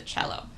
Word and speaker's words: cello: low sound of the cello. But I don't remember this. My mom says that I wanted to play the jello. And the jello, of course, rhymes with cello, right?